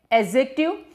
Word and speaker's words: adjective: ये डी का प्रोनाउंसिएशन इसमें नहीं होता, ये डी का प्रोनाउंसिएशन नहीं है, आप बोलेंगे एडजेक्टिव। क्या बोलना है? एडजेक्टिव। कई लोग बोलते हैं इसको, पर हम क्या बोलेंगे? इसका सही प्रोनाउंसिएशन है एडजेक्टिव।